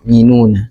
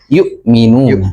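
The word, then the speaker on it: يؤمنون: Ee namun tadi ee masih ada yang di ayat yang keempat ya ada terdengar walladina yinuna. Nah, ayat yang keempat tadi. Heeh. Maka Oh, iya. Membacanya yaitu ya Hamzah ya. Yukminuna. Heeh.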